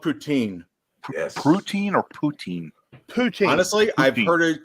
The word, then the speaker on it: poutine: No, that's Poutine. Canada. Poutine, yeah. it's That's called Wisconsin. It's called poutine. Yes. Poutine or poutine? Poutine. Honestly, I've Poutine. heard it called Putin.